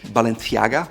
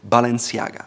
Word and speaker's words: Balenciaga: It used to be Spanish Balenciaga with a TH, but today it's French owned and they prefer to say Balenciaga.